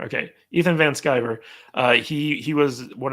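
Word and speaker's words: Ethan Van Sciver: you know he uh okay how do you pronounce it Ethan van skiver skyber okay Ethan van skiver uh he he was one of the artists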